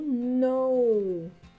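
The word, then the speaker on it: know: a letra k mas a letra k não é pronunciada aqui isso e com todas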